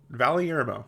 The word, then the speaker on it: Valyermo: Valermo. Nope. I got it right the first time. Hey, good for me. Valermo.